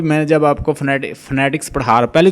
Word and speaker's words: phonetics: पढ़ते हैं कुछ लोग, कुछ इसको पढ़ेंगे फोनोटिक्स, कुछ इसको पढ़ रहे होंगे फोनेटिक्स, कुछ असल इसका जो इसकी एग्जैक्ट प्रोनाउंसिएशन है फोनेटिक्स, फोनेटिक्स, ठीक है, PHONETICS,